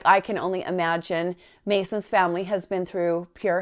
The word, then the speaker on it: Macin: left him alone and then later on heard Mason leave at 7 45 as usual how could